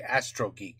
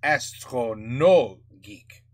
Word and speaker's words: AstronoGeek: I used to say Astro Geek. It's Astronaut Geek.